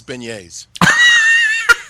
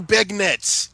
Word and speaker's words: beignet: ask um when Daniel's on ask him to pronounce beignet yeah do you mean do you mean beg Nets no oh Daniel's gonna be furious oh he's